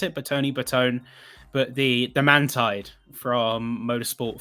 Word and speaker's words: Bertone: It was the can't remember the Bertoni. Is that how you pronounce it? Bertone.